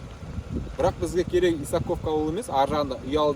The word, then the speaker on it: Исаковка: Біз қазір Исаковка ауылына келдік. Ударение дұрыс, оға түседі.